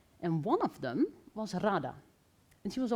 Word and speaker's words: Radha: Tell us about Radha. Is that how you pronounce her name?